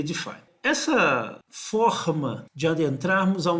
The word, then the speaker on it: DeFi: Mas você vai ver muita gente falando DAIF, DeFi, mas a pronúncia correta aí, na sua sigla, seria DeFi.